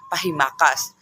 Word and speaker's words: pahimakas: second word is pahimakas the correct pronunciation of this is paas pahimakas the definition of this is